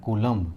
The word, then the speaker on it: Coulomb: क्या होता है दोस्तों, तो वो होता है कूलम्ब, CO, है ना, COULOMB, कूलम्ब। देख लेता हूँ स्पेलिंग सही लिखे है ना यार, COULOMB, ठीक है, कूलम्ब होता है।